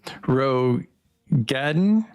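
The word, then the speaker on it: Roegadyn: entire sex of races in your things um Ro Gaden how do how do you say that I'm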